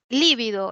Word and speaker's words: lívido: tenemos la siguiente palabra Cómo se pronuncia esta palabra es con í líbido es es drujula Es drujula no líbido que significa amoratado